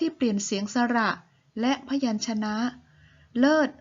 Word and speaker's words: เลิศ: เสียง สระ และ พยัญชนะ เลิศ ออก เสียง เป็น เริ่ด พี่ ออก เสียง เป็น เพศ